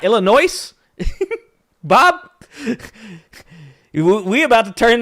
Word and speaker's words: Illinois: correct way please uh Illinois I can start by removing the S it's not Illinois Bob we about to